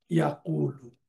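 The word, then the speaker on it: يقول: চলে যায় ওয়াওয়ের উপরে, যার জন্য তার উচ্চারণটা হয় ইয়াকুলু, যে ইয়াকুলু। আর আমরা আরেকটা বিষয় জানি যে পেশের সাথে ওয়াওয়ের সম্পর্ক, এই জন্য এই শিফটিং হারাকার কারণে তার উচ্চারণটা হয় খুবই ইজি, ইয়াকুল, কালা ইয়াকুল।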